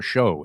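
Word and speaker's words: Shough: He beats out I think it's Tyler Show is how you say this guy's name.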